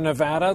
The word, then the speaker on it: Nevada: from here in Nevada the way I just pronounced the name of this state is what this next story is about we haven't always said it the same way and there is a correct way memo to all those